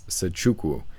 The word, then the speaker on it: Nzechukwu: I think the N is silent. I think it's Nzechukwu.